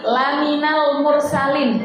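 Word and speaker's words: لمن المرسلين: nah laminan nah Berarti laminal mursalin lamnya itu pendek kalau dipanjangkan sudah beda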